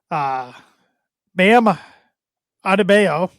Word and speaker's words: Bam Adebayo: Bam Adebayo. I believe that's how you pronounce his name.